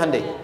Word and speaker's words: Hyundai: Hyundai kan dibacanya Hyundai.